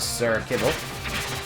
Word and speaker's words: Sir Kibble: And get rid of the Sir Kibble. That's actually the official pronunciation of the name.